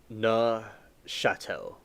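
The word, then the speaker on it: Neufchâtel: The way you pronounce the word I just said is n chatel. I said it right. Nohatel.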